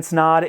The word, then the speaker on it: Snod: guys my name is snod it rhymes with odd and I'll see you